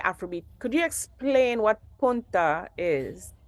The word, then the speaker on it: punta: Could you explain what punta is? It's If I'm pronouncing it right, because I know you that's got a it right. Spanish word Punta.